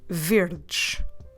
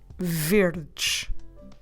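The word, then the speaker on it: verdes: this one is easy we just need to add the letter s so instead of weird we add s at the end and we say verge verge so green cars car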